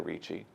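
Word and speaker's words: Ricci: Holy Family With Angels by Sebastiano Richi pronounced like Christina Richi we all probably need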